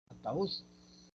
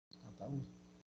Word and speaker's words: ataúd: Ataúd, ataúd. La cerrada tiene más que la A. Ahí es la sílaba tónica y en este caso la cerrada tiene la intensidad, por lo tanto, esa vocal lleva tilde. Continúa.